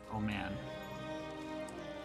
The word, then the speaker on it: Oman: It's like Hormuz is going to have a little battle with Oman. I know it's pronounced Oman, but I can't help myself.